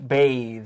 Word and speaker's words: bathe: The verb form is to bathe. 那如果是动词形式呢，注意它是 B-A-T-H-E，所以读音会不一样，是长音洗澡的动词。